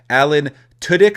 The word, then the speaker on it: Alan Tudyk: So Alan Tudyk, I believe is how you pronounce it, will voice Iago.